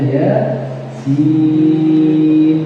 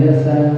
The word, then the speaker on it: Yasin: Tapi kalau menuju wakaf ya, maka bacanya ya sin, bukan yasan ya.